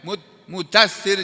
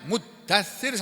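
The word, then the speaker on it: مُدَّثِّر: paham ya ya ir hati-hati Bacanya jangan sampai mudir jangan sampai begitu mudtir jangan walaupun mudasir itu artinya sama dengan muddatir sama sama nanti kita lihat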